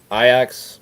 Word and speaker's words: Ajax: I know for a fact that I butchered it. All right. These are pretty much just all favorites. Gotcha. Ajax -250 against.